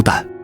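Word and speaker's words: 宕: 先糾正一個讀音，這個當字讀蛋，很多人讀錯，但你不該錯。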